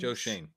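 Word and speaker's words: Schoen: Joe Shane.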